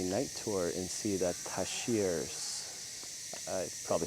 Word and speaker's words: tarsiers: Because uh tashiers are nocturnal.